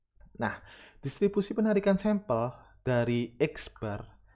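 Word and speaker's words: X̄: Nah, distribusi penarikan sampel dari X bar. Jadi ini bacanya X bar ya. X ada garis di atasnya dibaca X bar.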